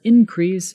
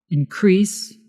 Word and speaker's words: increase: example there was an increase in the number of followers did you see the difference in pronunciation increase is the verb increase is the noun bonus section thank you